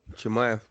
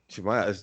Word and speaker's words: Chimaev: Chimaev. Chimaev.